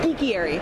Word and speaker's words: Geekiary: Wait, Geekiary. thank you. I was like, you gotta pronounce It's that. like an aviary, but for geeks.